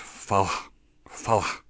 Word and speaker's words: Vallay Strand: It looks like in English, and Strand, and it's actually pronounced Falla in Gaelic.